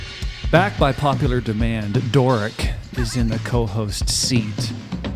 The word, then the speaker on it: Dhoric: I'm Doric. How do you spell that? DHORIC. C? E. Yeah, it's Middle Eastern. Doric. The AUGHT is silent.